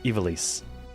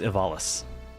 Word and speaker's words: Ivalice: You always pronounced Evalis with a long I at the beginning rather than... Yeah, the emphasis on the least part, Evalis. For me, it was always Evalis.